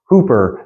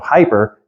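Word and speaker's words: ὑπέρ: biblical Greek that be you want to say ho but it's Hooper Hooper Hooper that's where I got Accent on this yeah so Accent on the second because it'll tell you where you do your pronunciation so like we're going to try to pronounce it like English instead of hyper be hyper I'm I'm struggling with the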